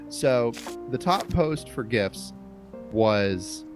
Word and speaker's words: GIF: for the gifts subreddit yes I say gifts deal with it um nope that's the proper way to say it yes good um was